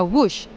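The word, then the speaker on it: Whoosh: operasi optimal sistem hebat namun dibaca wush dengan ejaan wus nah kira-kira warga tahu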